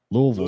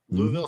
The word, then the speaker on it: Louisville: you call Louisville Slugger Louisville slugg Louisville Slugger everybody in the state of Kentucky pronounces Louisville as Louisville like l o o v i l l e yeah so just just